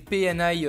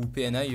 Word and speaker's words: PNY: ça sur internet donc c'est une PNI en DDR3 PNY ou PNI enfin je pense que ça se prononce PNI en DDR3 de 8